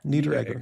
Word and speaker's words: Niederegger: Niederegger.